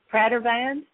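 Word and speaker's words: Pradervand: his last name I'll probably butcher it here Pratt van p r a d e r v a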